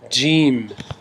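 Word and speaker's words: ج: it after me alice like in gem it is gene gm then we have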